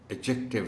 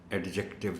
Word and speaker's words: adjective: कहा था कि ये इस वर्ड का डी साइलेंट है. मैं इसलिए नहीं बता रहा कि आपको नहीं मालूम, आपने बच्चों को बताना है कि इस वर्ड का प्रोनाउंसिएशन एडजेक्टिव है, एडजेक्टिव नहीं है. डी is silent.